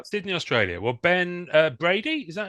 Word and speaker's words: Bradi: Australia Sydney Australia y Sydney Australia well Ben Brady is that how you pronounced your surname that is correct yeah Ben